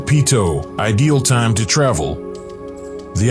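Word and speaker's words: Peyto: gave it its name locals pronounce it Pito ideal time to travel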